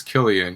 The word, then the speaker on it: Cillian: You say his name is you pronounce it Killian Murphy? I'm pretty sure it's Killian.